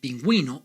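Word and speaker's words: pingüino: vowels a e and you also know that there are some few words like pinguino or the subway that makes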